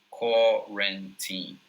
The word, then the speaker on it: quarantine: So the way that I pronounce it is quarantine, right? Quarantine. There are two vowels in there, the UA, and a lot of